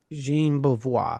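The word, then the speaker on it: Jean Beauvoir: Ace played bass and uh who's the guy that we can never pronounce his name from the plasmatic? Bvois. Bois. Jean Bvoir. Jean Bvoir.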